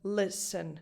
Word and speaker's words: listen: So in English, it doesn't matter that listen is spelled with an E before the final letter, before the N. It's just a schwa. Again, listen.